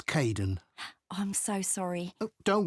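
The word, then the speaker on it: Kaeden: welcome to the team hi Aiden uh it's Caden I'm so sorry oh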